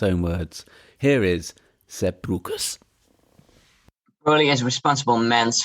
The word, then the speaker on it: Breukers: When I asked Seb, do you pronounce it Breukers? He goes, no, it's Breukers. I'm like, well, it sounds like my name, Brooker. He goes, yeah, but it's Breukers. Anyway, I called him Seb,